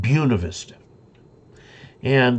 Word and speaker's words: Buena Vista: There's a town in Colorado that you look at it and it says Buena Vista, good view in Spanish. But the people there call it Buena Vista. And the town to the